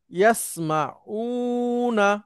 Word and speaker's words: يسمعون: স্যার বহুবচন হচ্ছে এটার সাথে একটা টান দিতে হবে। ইয়াসমাউনা উচ্চারণ করেন।